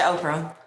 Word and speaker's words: Opurum: Can you pronounce it? Opurum.